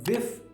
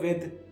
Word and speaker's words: with: commonly mispronounced words are saying aks instead of ask or wif instead of with or saying athalete instead of athlete so pay close attention